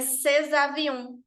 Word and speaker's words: ces avions: Por exemplo, estes aviões ficaria ces avions. Ces avions. O exemplo que a gente trouxe aqui com o C tá ótimo, porque a palavra é avião, é obrigatório, tá? Porque eu tenho um determinante seguido de um nome, de um substantivo. Então, essa liga, essa cola de duas em uma única palavra é fundamental e obrigatório nesse caso.